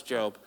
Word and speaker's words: Job: All right, it's spelled Job, but it's Job.